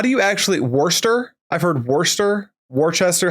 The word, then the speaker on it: Worcester: Worooster.